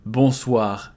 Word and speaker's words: bonsoir: Bonsoir, here, O and I. It becomes wa, bonsoir, and we pronounce everything.